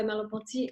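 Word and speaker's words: Merleau-Ponty: what I mean by mallampati this is the name right of the other philosopher that she mentions I'm typing it up for you and I'm pronouncing it in French that's easier right so what this guy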